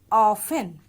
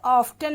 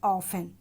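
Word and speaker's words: often: पहला शब्द है, जैसा कि आप देख रहे हैं, ऑफन. इसमें टी साइलेंट रहेगा, यानी टी का उच्चारण नहीं होगा. हम इसे ऑफ्टन नहीं पढ़ेंगे, हम इसे पढ़ेंगे ऑफन.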